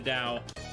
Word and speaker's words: Tao: Dao how about yourself say it like it's D it's Tau it's a taoism yeah I know it says T but I'm pretty sure you're supposed to say it like taoism uh yeah I'm pretty